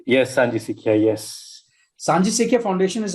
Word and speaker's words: Sanjhi Sikhiya: I've got the pronunciation right? Yes, Sanji Sikhiya, yes.